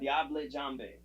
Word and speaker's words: Diable Jambe: Diable Jambe. That's correct. That's French, whatever, Cajun, and that's 100% correct how you say that.